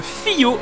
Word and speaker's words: Fillot: balance de freinage Paul fillot navr pour la mauvaise prononciation de son nom de famille je n'avais pas prêté attention au double l donc ce n'est pas philo mais je bien fillo donc navre et Paul